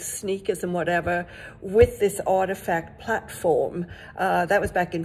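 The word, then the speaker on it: RTFKT: of um out of salt lake city called artifact it's not spelt like that but that's how you pronounce it and they do they did this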